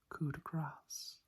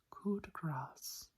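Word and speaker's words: coup de grâce: it is actually pronounced coup de grace. So if that is correct or incorrect, please let me know. But from what I could do from my research, coup de grace is how it's actually pronounced.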